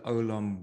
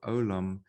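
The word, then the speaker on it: עולם: just so you know how we pronounce it the i yin the ien is silent and then you have a vav above there's the column so that is what gives you the o sound this is yet the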